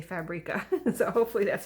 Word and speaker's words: Creative Fabrica: that I've discovered called Creative Fabrica. Or that's how I say it, creative, the word creative, and fabric with an A on end, and I say Fabrica.